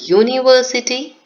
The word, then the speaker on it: university: usage of this article some words that start with a vowel letter but begin with consonant sound I have just shared examples with you European unit yes Union they all were starting with vowel letter but it had consonant sound you and that is